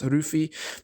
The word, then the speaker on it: Luffy: comments say, refer to Luffy as Ruffy, because in some countries, Luffy's name was actually localized to Ruffy, right? Because that's how they pronounce it in Japanese.